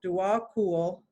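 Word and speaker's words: Djwal Khul: pulled dewal cool and they they tell you how to pronounce his name for us um ignorant westerners which i am so dual cool i like that who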